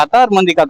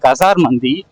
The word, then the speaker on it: கசார் மந்தி: ஒட்டினதுக்கப்புறம் இப்போ ஸ்ட்ரைட்டாக அது வந்து நான் கத்தார் மந்தின்னு ப்ரொனவுன்ஸ் பண்ணிட்டு இருந்தேன். ஆக்சுவலாக அது கசார் மந்தி.